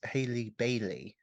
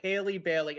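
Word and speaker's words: Halle Bailey: a quick aside uh the name of the actress playing Ariel in Little Mermaid is Haley Bailey oh see that's why I'm getting Ally Berry because it's so phonetically close but Haley Bailey I'm gonna have to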